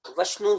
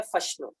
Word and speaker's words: وشنو: واو استعمال ہوتا ہے، لہٰذا عربی کے اندر بھی وشنو ہی آنا چاہیے. لیکن عربی کی بہت ساری کتابیں ایسی ہیں کہ جہاں تقابل ادیان کی جب بحث آتی ہے اور ہندو مت کا جب ذکر آتا ہے تو وہ وشنو کی جگہ فے کا تلفظ لکھتے ہیں، فشنو.